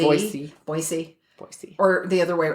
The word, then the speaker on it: Boise: and they were saying it's boisey it's an S not a z boisey boyy or the other